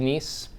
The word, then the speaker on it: NIEM: how it relates to nice i know it's it's it looks like it's misspelled that's how it's spelled it is pronounced nice just like it was iece then there's a list